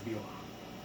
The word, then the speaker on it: Bil'am: It is Bil'am.